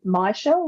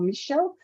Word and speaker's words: Michele: and I was like oh you can say myelle or Michelle because it's only got the one L people sometimes have this